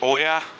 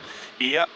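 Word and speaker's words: Oia: So today we're gonna explore Fira, and maybe I'm gonna cycle a bit into, I call it Oya, but I think the right pronunciation is Ia.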